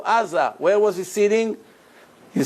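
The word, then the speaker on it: עזה: You see Aza Gaza? How do you say Gaza in Hebrew? Aza.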